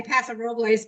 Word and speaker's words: Paso Robles: I usually say Paso Robles, but I could be, I'm definitely wrong. I'm not the best. No, that's not wrong. That's actually more Spanish pronunciation, I guess.